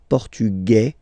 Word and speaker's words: portugais: Masculine, Portugais, you don't pronounce the S. Feminine form, Portugaise, you pronounce this Z sound, okay?